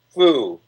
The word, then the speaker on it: Phuc: PHUC is pronounced foo.